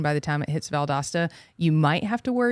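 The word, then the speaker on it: Valdosta: Austin wants to know about I hope I'm pronouncing this correctly valasta Georgia yeah valdasta Georgia uh probably going to rain in valdasta Georgia I do think that by the time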